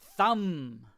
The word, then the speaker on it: thumb: The thing is your, thumb. The B is silent.